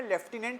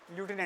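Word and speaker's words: lieutenant: में बैठा हुआ है देखो यूके वाली इंग्लिश में लेफ्टिनेंट होता है और यूएस वाली इंग्लिश में होता है लूनेट यूके की इंग्लिश में होता है लेफ्टिनेंट और यूएस में होता है लूटने वो स्पेलिंग के अकॉर्डिंग बोलते हैं इस पर्टिकुलर वर्ड को लूटने होता है और तुमको एक जान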